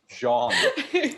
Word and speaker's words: John: Jonathan, and that's why I called the character John, although I spelled it with an H. But and occasionally he would ask, "What's my character's name again?" Pronounced differently, it's Jean. Jean.